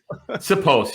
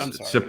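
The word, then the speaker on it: Siposs: Sipos. Yeah, that's how you pronounce it. Sipos.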